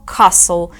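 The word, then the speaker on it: castle: де ті звучить якш або cassle тут Silent T літера U з нею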